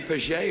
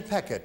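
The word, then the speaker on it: Pechet: Is that Patty Pichet or Peckett? Patty Peckett is her name. That's it's spelled cute.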